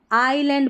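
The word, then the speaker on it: island: That watch belongs to द, अब इसको इज लैंड नहीं, आईलैंड पढ़ेंगे, S जो है ना यहाँ पर ये साइलेंट है, आईलैंड।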